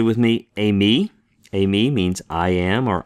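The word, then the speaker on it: εἰμί: Say with me, eimi.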